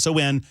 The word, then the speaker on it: Thomson: small town called Thompson, Thomson. No P in Thompson. You're not allowed to pee in Thompson. That's what we used to say, because everybody wanted to spell it with a P.